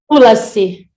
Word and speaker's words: Tulasi: Did I pronounce that right? Tulasi. Tulasi, sorry.